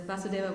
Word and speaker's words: Vasudeva: explained why so there's vasudeva with short a which is the consciousness in which krishna appears and then there's vasudeva which is krishna in pure devotional service